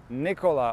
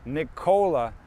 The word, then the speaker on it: Nikola: Unfortunately, my name is Nikola, or Nikola, how we say it